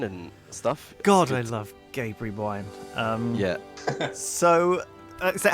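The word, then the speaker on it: Gaberry: We thought we were pronouncing Gabery's wrong, but we're pronouncing that right, I guess.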